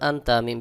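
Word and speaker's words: أنتم: টান দেওয়া যাবে না সহি উচ্চারণ হবে ওয়া জবর ওয়ালাম আলিফ জবর লাজা নুন জবর আনতা মিম পেশ তুম আনতুম এখানেও একফা গুন্না নুন সেকেন্ডের পর তা আসছে একফা গুন্না এবং এখানে মাদ্দে মুনফাসিল আনতুম আইন খাড়া জবর আ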